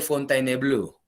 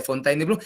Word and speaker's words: Fontainebleau: así como se dice rusia o y se pronuncia ruso así también el tratado de fontainebleau muy bien qué cosa vino a ser ese